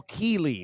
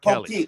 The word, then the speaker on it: Keeley: I'm just, it's Cole Keeley, not Kelly.